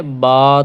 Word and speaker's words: ب: میں انہیں پڑھیں گے، اردو تلفظ سے پرہیز کریں گے، جیسے کہ بے تے سے حیخ ہم بولتے ہیں، توئیں زوئیں وغیرہ، تو یہ ہم نہیں بولیں گے، بلکہ با تا سا حا خا اس طرح